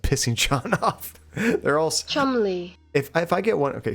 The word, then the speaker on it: Cholmondeley: Chumley.